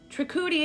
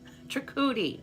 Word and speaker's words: Trikuti: Trikuti, it is on the second syllable. Trikuti, okay.